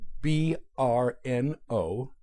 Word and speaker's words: Brno: At 11, he received a scholarship to attend the Queen's Monastery and School in the city of Brno, B-R-N-O, pronounced Brno, the largest city in Moravia.